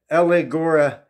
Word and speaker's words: allegoreo: But the word allegory, in the Greek, it's pronounced allegoreo. Allegoreo. It's spelled A-L-L-E-G-R-O-R-E-O.